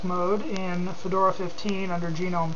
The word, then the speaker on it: GNOME: in Fedora 15 under genome 3. Uh, I refer to Gnome as genome because it stands for GNU network object model environment and anything by GNU, I pronounce the G by name.